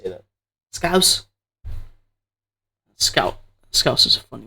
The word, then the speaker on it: Scouse: Scouse.